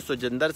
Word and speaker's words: Siljander: you doing I am today with Congressman mister so gendered Singh and his last name is too gender